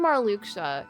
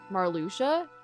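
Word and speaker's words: Marluxia: I mean so did Marlucha. Marluchia. Marluchia. You don't pronounce the X.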